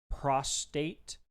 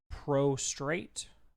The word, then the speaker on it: prostate: So, one of the common things we've seen people do is pronounce prostate with an extra R, like prostrate.